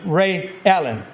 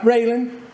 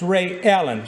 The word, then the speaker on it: Ray Ellen: But it's Ray Ellen, not Raylan, not Raylyn, it's Ray Ellen.